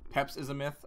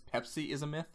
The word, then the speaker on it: Peps Is A Myth: I want to say it's Peps is a myth, and then everyone thinks it's Pepsi is a myth.